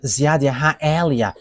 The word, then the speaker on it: YAHVAH Eliah: one you see now, YAHVAH Eliah. And that is not a Malagasy name, but that is the name from us, and that is my name, so I pronounce it as my father pronounced it, YAHVAH Eliah.